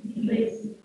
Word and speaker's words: Brexit: Y lo deberíamos pronunciar Brexit.